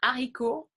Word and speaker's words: haricot: So we don't usually pronounce the letter T, voilà, comme and du verbe être, donc il est, for instance, he is. Un haricot, bean.